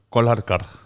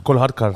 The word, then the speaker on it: Kolhatkar: And then when I was 21, my dad said it's actually pronounced Kolhatkar.